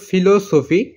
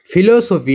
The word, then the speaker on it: philosophy: তো পি দিয়ে শুরু হলেও এটার উচ্চারণ হবে ফিলোসফি, এবং ডক্টর তো আমাদের খুবই চেনা, এবং অফ এবং ফিলোসফি, ফিলোসফি এটা পি দিয়ে শুরু